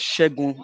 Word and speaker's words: Ṣẹ́gun: So that name is pronounced as Ṣẹ́gun Nàbí.